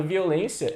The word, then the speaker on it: violência: A palavra violência, ela é dividida assim, e aí, como a sílaba tônica dela é a penúltima, a gente fala que